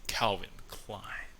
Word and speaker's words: Calvin Klein: But did you know that they also like Calvin Klein? Is that how you say it? Calvin Klein.